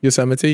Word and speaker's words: Yosemite: I've always wondered how you pronounce Yosemite, that. Yosemite.